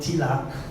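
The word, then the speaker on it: तिलक: And the mark on the forehead is called tilak. In Sanskrit, it's also called Uddhva Pundra. I'll write the tilak quickly. Tilaka. But the A at the end is silent, so it's like tilak.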